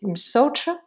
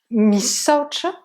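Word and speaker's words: misaotra: fois que vraiment, merci, ça s'écrit et ça se dit msoch, misoch ou msoch. Vous vous souvenez, AO, ça peut de temps en temps être un O. D'accord? Msoch. Merci, c'est msoch. Ou msoch. Misoch. M-I. Et le ch, vous vous souvenez aussi, comme try. Hein? On le prononce, mais vraiment très doucement, dernière syllabe.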